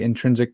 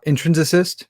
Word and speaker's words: intrinsicist: of um intrinsic um i always say it wrong i always want to say intrinsic persons uh intrinsicist person yeah and you you